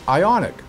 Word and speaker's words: Ioniq: find in a brochure just remember to pronounce it ionic rhymes with ironic this week RPM news